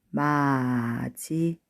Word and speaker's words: 맞이: 자, 맞이, 마지. 자, 디귿 받침이 뭘로 발음이 됐냐면요. 뒤에 나오는 이 글자와 만나서 지읒으로 발음됐죠. 네.